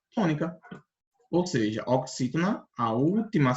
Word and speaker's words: oxítona: A última sílaba é NA, é na. A penúltima é tu. E a antepenúltima é xi. Então, é oxítona.